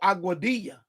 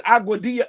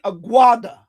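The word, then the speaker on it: Aguadilla: It's called Aguadia. That's where um you know, I think something happened with with not Columbus, one of the other. Anyway, it's Auadia. He kept saying he kept saying Auada.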